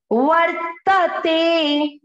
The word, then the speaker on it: वर्तते: वह त पर जो मात्रा है वो आधार है, जैसे जू पे थी वही वाली मात्रा है, ऊपर मात्रा आधार है और त पूरा। वर्तते।